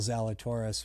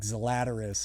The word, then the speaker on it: Zalatoris: i saw of will zalatoris was on the pat mcafee show and um he i think pat butchered his name and said like zlatarus or something like that and and will went